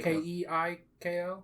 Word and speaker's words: Keiko: lady okay keiko okay k-e-i-k-o yeah keiko keigo that's how i pronounce it okay nice good names